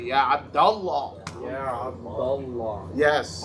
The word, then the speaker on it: Abdullah: you would say Abdullah. Yeah, but make sure Allah stays heavy. Yeah, Abdullah.